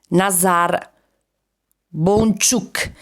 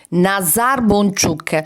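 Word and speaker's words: nazar boncuk: casi si chiama nazar nazar bon chuk nazar bon chuk questo chuk questa sillaba che noi non abbiamo Ma che assomiglia molto al Ecu al nostro Ecu tradotto letteralmente e arriviamo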